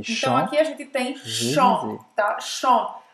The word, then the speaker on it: chant: aqui a gente tem chant, tá? Chant. A pronúncia termina tipo on. na nasalada. Não vai pronunciar o T no primeiro exemplo e não vai pronunciar o P no segundo exemplo.